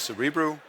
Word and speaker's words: Cerebriu: I'm the CEO of cerebral I know it's a name that's difficult to pronounce it is cerebral and we are a